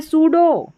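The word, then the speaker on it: pseudo: यहां पर है सूडो। सूडो पी को पढ़ा नहीं। पी एस को साथ में पढ़ा स और पी साइलेंट है।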